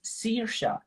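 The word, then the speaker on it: Saoirse: at all for example the name which is spelled like uh s-a-o-i-r-s-e in fact sounds serious any are there any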